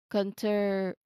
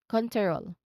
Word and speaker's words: control: I did not say that. I mentioned, or I pronounce the word as control, troll. Okay, troll. Make it continuous from first consonant to the following consonant. No vowel sound in between.